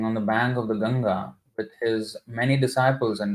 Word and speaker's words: Ganga: Lord was sitting on the bank of the ganga with his many disciples And discussing literary topics now I just wanted to um say say something this word Ganges I just don't like that word I mean